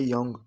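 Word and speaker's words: 영: ये शुरू में साइलेंट होता है जो, और थर्ड पोजीशन पर इंग की आवाज़ देता है, तो ये बन गया यंग।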